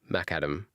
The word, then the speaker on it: macadam: Oh, it's named after McAdam. Whoa. Okay. So, it's the crushed stone which is madam named after John Lden McAdam. So, it's called MacAdam.